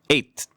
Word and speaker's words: eight: 자, 그 다음에는 eight 이건데 그것도 되고 eight T 발음 안 내도 되고요. 근데 eight 이렇게 음절을 하나 더 만드시면 안 됩니다. 그래서 eight 오케이? 그래서 그 it 동사의 과거 eight는 똑같은 발음이에요. eight.